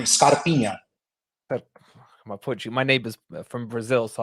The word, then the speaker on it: Scarpinha: So you're saying it correctly, Scarpinha.